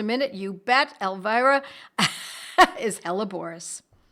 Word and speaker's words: Helleborus: Hella, Hella, Borus, Borus. One word, though. Seems like it would be two, but I'm pronouncing it in that way so that you have a better way of remembering it.